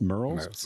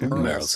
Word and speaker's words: Murrells: Merle's Merle's, Inlet. M-U-R. That was my Nobody accent. can nobody can spell it or say it. Murrells. We say Merle's Inlet because we don't want